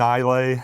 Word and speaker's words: Islay: Yeah, so I won't be recording podcasts there, but I will be drinking whiskey and Islay, or Isla, I think is how it's pronounced, pretending I know how to golf at St.